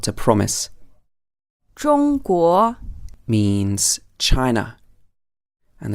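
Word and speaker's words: 中华: promise or - promise drunk war means China and the correct way to say the word for China is using a first tone and then a second tone bow core means including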